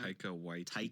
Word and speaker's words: Taika Waititi: It's I don't even know how to pronounce it. Is it Taika Waititi or something like that? Taika Waititi.